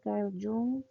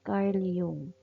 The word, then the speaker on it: Carl Jung: Nandito na tayo kay Carl Jung or um ang tamang pronunciation is Carl Yung.